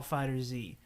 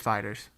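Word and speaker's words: FighterZ: and uh dragon ball fighter Z insanely it's just Fighters it's fighter Z in my mind Fighters is stupid there's a z there if it's Fighters it'd be spelled with an S but uh dragon ball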